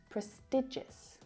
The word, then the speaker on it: prestigious: Một vấn đề ở đây là xuất phát từ từ gốc, prestige (uy tín, thanh thế) nơi mà âm nguyên âm được nhấn âm thực sự khác. Pretige và prestigious Chúng ta có một nguyên âm e dài trong